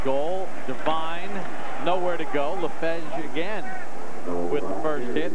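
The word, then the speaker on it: Lefeged: Good job on the pronunciation there on LaFedge.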